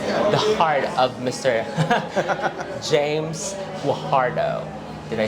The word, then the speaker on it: Guajardo: James Guajardo.